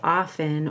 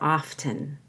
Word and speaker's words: often: breath of error you can either say often or often how often I'd heard I